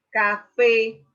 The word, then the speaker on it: café: Ejemplo, café, café. La sílaba átona es K y aquí la sílaba tónica sería fe.